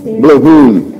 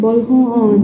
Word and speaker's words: Boljoon: Boljoon, right? Boljoon? Boljoon. Boljoon. I always say it wrong. Boljoon.